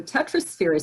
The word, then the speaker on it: Tetrasphere: patty you have one series out called the tetrosphere series and i think i'm pronouncing that correctly yes you are tell us